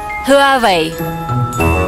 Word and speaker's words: Huawei: Як би ви це вимовили? Хуавіє. Хуай? Хуавей.